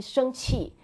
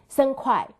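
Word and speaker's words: 生气: It's totally different from, because so everybody, my students say, oh, angry, supposed to be 生气, but they always say pronounce 生快, 生快.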